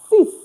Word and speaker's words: six: And the next is sis. Sis. So you know English will tell you six. Six. But French will tell you sis. Sis pronounced like s i s.